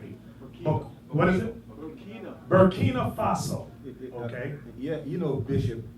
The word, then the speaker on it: Burkina Faso: Burkina Faso.